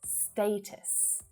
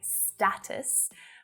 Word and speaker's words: status: a little contentious but it should be pronounced as status not with the short a vowel sound like status but status status though